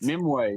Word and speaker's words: Nimue: I can't pronounce the villain's name. Nimue, is that correct? Nimue, yeah, Yeah, yeah, by played by Mila Jovovich from the Resident Evil movies.